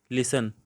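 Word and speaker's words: listen: सी वाला answer night लिसन क्योंकि इसमें देखें जब आंसर कहा गया है तो ई नहीं पढ़ा गया नाइट का के नहीं पढ़ा गया और लिसन इसमें टी नहीं पढ़ा गया अब इससे नेक्स्ट नाइन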